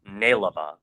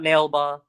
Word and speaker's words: Nale Ba: So, today we are talking about the NAL EA, which is pronounced Naiva. So it's not nailba, it's not nalba, it's nleba.